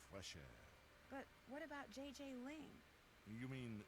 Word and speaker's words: JJ Ling: But what about JJ Ling? You mean Gigi Ling? Gigi? No, I mean JJ. Gigi. JJ. En français, you pronounce G like J and J like G.